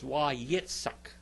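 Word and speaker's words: ויצעק: Now the modern Greek, Hebrew, they pronounce that as an S. Okay, but in biblical Hebrew, it's Wayetzak. Wayetzak. It's got a TS sound.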